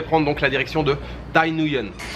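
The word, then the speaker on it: Thái Nguyên: Et aujourd'hui je vais prendre donc la direction de Tay Nguyen. Tay Nguyen, si je le prononce à la française.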